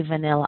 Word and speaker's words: vanilla: sent me a question asking how do you pronounce the word vanilla when I say vanilla ice cream people think I say funny ice